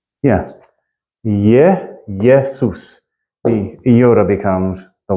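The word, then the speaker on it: Ἰησοῦς: it's at the beginning if it's at the beginning of a it's at the beginning of a word followed by a vow so here's AA okay so it's ye yesus and and if you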